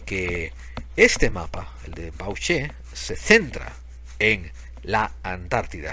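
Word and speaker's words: Bauche: y el mapa de bauch así como lo estoy leyendo amigo no estoy haciendo así no me estoy haciendo el guapo no estoy poniendo acentos se escribe B a u c h e bauch y en este mapa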